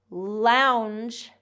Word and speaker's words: lounge: Launch, like when I launch a rocket, launch has that ch sound, voiceless ch. Lounge, lounge has more of the voiced j sound. So the difference here is in the vowel and in the voiced and voiceless sound at the end.